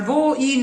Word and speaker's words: voi: Remember, voi, noi. 2 syllables and the O is closed. So it's never oi. O, I.